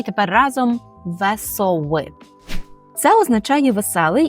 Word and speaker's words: wesoły: мої студенти роблять помилку Тому розіб'ємо це слово на склади ве со ви ще раз ве со ви так і тепер разом весови це означає веселий і